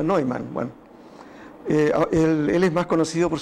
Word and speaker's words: von Neumann: fue john von neumann aunque algunos dice que se produce a newman pero escuchará la conferencia de la hija que decía que se pronunciaba no hay mano él es más conocido